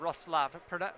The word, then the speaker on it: Wrocław: I believe it's the first weekend of July in Roslav, spelled Rocklaw, if you see it on the website. I was schooled in my Polish pronunciation.